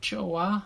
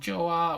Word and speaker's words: Joa: korean chinese japanese and one is called joa or choa i think from the korean um meaning good or nice so it's spelled j-o-a oh yeah and uh